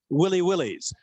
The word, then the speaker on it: Willy Willies: called Cyclones near Australia they're called Willy Willies which rhymes with silly silly and I forgot to